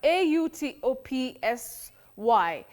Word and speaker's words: autopsy: I commonly hear of autopsy autopsy automatic author authority authorize and all that that a is not there. Okay. A and u combine to form the long sound or autopsy authorize automatic